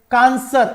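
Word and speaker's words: connoisseur: Spelling देखिए, CANCO, कनजियर, actual में ये एक फ्रेंच का वर्ड है, कांसर इसका सही वर्ड है जो प्रोनाउंसिएशन है, और ये होता है जो सभी कला में पारंगत हो वह कहलाता है कांसर, राइट।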